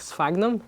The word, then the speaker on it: sphagnum: It's pronounced with an F sound, like sphagnum.